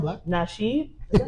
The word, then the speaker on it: Nasheed: Tariq Naheed. Oh, he sound black. Nasheed?